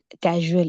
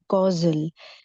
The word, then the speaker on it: causal: like she mentioned as casual it's causal so cause from cause we have like causal so it's causal not casual so sometimes yeah when